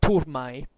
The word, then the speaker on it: turmae: So what happens according to Livy is that the wall Seleucid right wing charges the Roman turmae, in pronunciatio restituta, otherwise turmae if you prefer.